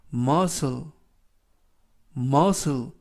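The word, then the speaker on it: muscle: 어 해 쓰는 스 그리고 씨는 이번 단어에서 는 발음이 나지 않습니다 엘은 르 그리고 맨 끝에 있는 발음 하지 않습니다 그래서 머 스 머 스 이라고 발음합니다 뜻은 근육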